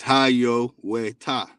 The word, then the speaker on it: Hiawatha: water right here and the proper way to say hiawatha is haiyo ta right and we have